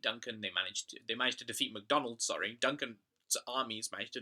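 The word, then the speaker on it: Macdonwald: the conclusion is that MacDonald, sometimes called McDonald, sometimes, depending on your script, called McDonwold, but it's pronounced McDonald, just like the fast food chain.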